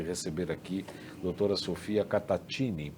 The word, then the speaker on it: Cattaccini: O italiano é Catatini, né? Se escreve Catassini, mas se lê Catatini.